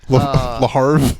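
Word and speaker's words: Le Havre: the French Second Division I think it's laav ra isn't it I is it pronounced like Brett Favre yeah larve yeah almost almost got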